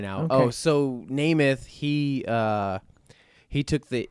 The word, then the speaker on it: Nemeth: just GNA say that right now oh so nameth he uh he took the E and made them A's so everybody would pronounce it correctly okay because Americans don't uh